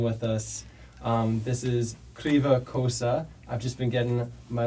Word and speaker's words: Kryva Kosa: Kosa Greva Kosa.